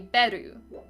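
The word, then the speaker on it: Beru: darkness and in it there is a character whose name is spelled b-e-r-u I come from a background of like speaking some amounts of Swedish where that would be Peru um pesh comes from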